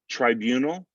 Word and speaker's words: tribunal: Tribunal, the second syllable is stressed. So we're not even really going to get that I sound in there. So it's going to sound like tribunal, tribunal.